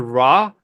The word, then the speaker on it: Ra: As an East African, the word Ra would be pronounced Rah to me, which is Qorah to